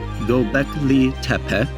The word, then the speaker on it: Göbekli Tepe: Göbekli Tepe, pronounced as Göbekli Tepe, is situated in the southeast of Turkey.